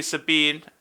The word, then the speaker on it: Sabin: And you get to learn how the Savin Brothers, the Figaro Savin Brothers. The Savin Brothers. We are Savin Force 5. Savin Force rules. No. Rather, we're pronouncing it wrong. It's supposed to be Sabine.